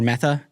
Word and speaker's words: Mehta: Today I have Mehta with me, or Mehta. Yeah. Yes. Yeah. Spelled with an HT, but pronounced with a th.